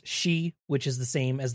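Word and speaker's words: 四: in the Japanese language it sounds for is pronounced she which is the same as the word for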